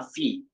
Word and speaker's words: fille: So there's, when there's letter I before double L, then the sound is Y, and Y is letter E.